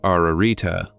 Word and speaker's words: Ararita: a triple and double repetition this word is pronounced ararita the virtue of the septenary is absolute in